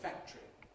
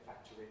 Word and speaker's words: factory: I'd say factory.